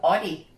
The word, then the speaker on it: Audi: body it's like so it's an Audi Audi Audi Audi Audi like Audi yeah okay